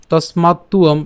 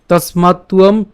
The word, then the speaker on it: তস্মাত্ত্বম: আছে, এটা হচ্ছে আমাদের, আমরা জানি যে অন্তস্থ ব, যার উচ্চারণটা কার মতো হয়? উয়োর মতো হয়। তো এখানে তসমাত্তম, তসমাত্তুয়ম, এই মাত্ত এবং তারপর হচ্ছে উয়ম।